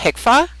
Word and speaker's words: HCFA: in 1997 we had hicka did you know that hcfa is pronounced hicka now it has changed